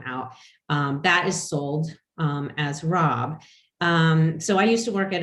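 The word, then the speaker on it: raabs: But we also have a lot of these brassicas that are called, we call them robs, and usually I think that farmers typically spell that R-A-A-B.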